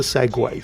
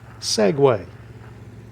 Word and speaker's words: segue: of mingles with Jingles segue the act of transitioning between two different subjects not the two wheel self-stabilized Mobility device developed and sold by the Segway Corporation of America except I was this many years old when I discovered to my horror that segue spelled like this is the two wield self stabilizing Mobility device developed and sold by the segue Corporation of the United States of